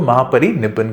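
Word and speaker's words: Mahaparinibbana: तो उसमें अगर आप प्रोनाउंसिएशन देख लेंगे तो है महापरिनिर्वाणा ही, पर इसको महापरिनिब्बन कहते हैं।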